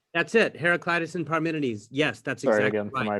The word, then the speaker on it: Parmenides: so what are we doing today heraclitus and paramindys that's it heraclitus and parmenides yes that's exciting for my pronunciation again oh it's all good it's all